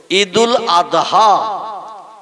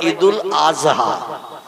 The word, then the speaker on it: ঈদুল আদহা: ঠিক তদ্রূপ ঈদুল আদহা এ শব্দটা হলো শেষে দোয়াত উচ্চারণ করতে হয়, কিন্তু ওরা বলে ঈদুল আজহা।